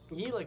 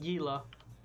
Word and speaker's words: Gila: Gila County. Not Gila. Not Gila.